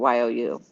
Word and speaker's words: ewe: is defined as a female sheep and is pronounced similar to the word you, which is you.